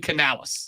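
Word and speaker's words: Canales: talking real fast I have slipped and said Canalis a couple of times but it is Dave Canalis and there's a Canalis in wrestling and that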